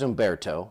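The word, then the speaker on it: Humberto: So this right here, that is Umberto. You don't pronounce the H.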